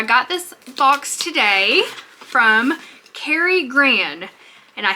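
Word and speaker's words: Karigran: this box today from Carrie Gran and I think I'm saying that right it might be Cari it's k-a-r-i-g-r-a-n I'm gonna say Carrie Gran because that's just how it looks to me but let me know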